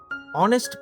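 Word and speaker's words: honest: অনেস্ট person, অনেস্ট এইচ উচ্চারণে শোনা যায় না, তাই অ্যান অনেস্ট পারসন।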